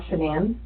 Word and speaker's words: Shanann: Are you lying about the last time you saw Shanann?